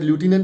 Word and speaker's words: lieutenant: vehement, Sir Edward Gate, lieutenant, governor, or it can also be pronounced as lieutenant also, unlettered, untreaty, deceitful, Maulana Mazrul Haq, Reverend J.Z.